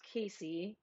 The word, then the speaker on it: Cassie: correctly and casey's name is spelled cassie but it's pronounced casey hi cheryl yeah this